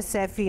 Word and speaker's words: Seffy: SEFFY अच्छा, यानी SEFFY है सैफी, नॉट SAFI जो मैं समझ रही थी।